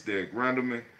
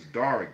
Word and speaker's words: Darick: Frankie Justice, Katie Justice, Derek Darick Rendelman. Let me say it right. That's Darick. The way they spelled it is Darick Rendelman.